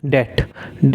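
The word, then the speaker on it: debt: कुछ लोग कहते हैं डेब्ट कह देते हैं, डेब्ट नहीं होता है, डेट होता है। क्या कहते हैं, डेट। इसमें जो है बी साइलेंट रहता है, डेट।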